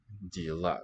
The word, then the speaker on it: дела: Dela. Accent on the last syllable here.